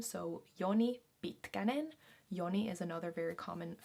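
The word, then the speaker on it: Joni Pitkänen: we have a very finished sounding name so yoni bitkanen yoni is another very common finnish male name yoni yoni yoni bhitganen bitkanen is a semi popular last name i guess at least i've heard it yoni bitkanen bitka means long so it's basically like yoni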